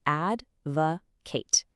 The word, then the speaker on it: advocate: It is pronounced advocate.